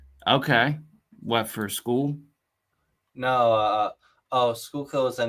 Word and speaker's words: Schuylkill: Schuylkill is the name of a place where I live. I gotcha. I got It's you. not like school. It's like Schuylkill.